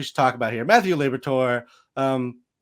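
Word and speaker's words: Liberatore: Uh, according to the pronunciation guide, it's Liberator.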